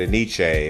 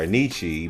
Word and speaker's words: Enyce: I've always said ane or ani, but some people also call it NYC, which creatively enough it does spell phonetically.